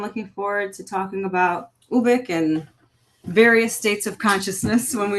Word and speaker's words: Ubik: He said both at different times, and he says the French, the French pronunciation is Ubik and not Ubik.